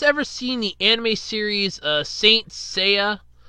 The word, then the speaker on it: Saint Seiya: seen the anime series Saint Seiya I always called it st. Celia and I always mispronounced it I do apologize or